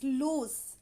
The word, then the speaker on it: loose: means the pronunciation is loose in the end there is s sound whereas in the lose